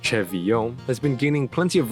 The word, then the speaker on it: CeVIO: CeVIO, pronounced CeVIO, has been gaining plenty of recognition in the vocal synth community due to its recent voice bank releases.